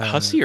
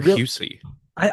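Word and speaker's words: Hussey: Is it Hussy or Hus? I I've I think it's Husi. Okay, I think is how it's pronounced. I've always read it as Hussy, which if it's not that I feel bad now. Uh I think it's Husi, but I'm not totally sure.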